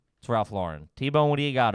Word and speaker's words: Lauren: ralph lauren saying that it's pronounced lauren like a girl wow okay so you're a jerk off if you say laurent yes ralph you're trying